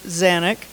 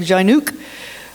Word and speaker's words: Zanic: name is zanic the s and the J are silent um that's how we pronounce it it's polish is polish my name is Polish and uh should be like xuk but we pronounce it zanic the American way so um that's who